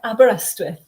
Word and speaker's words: Aberystwyth: and correct me if I'm wrong on this pronunciation, I've been to Wales twice, Aberystwyth University Prize for Short Fiction? Yeah, Aberystwyth.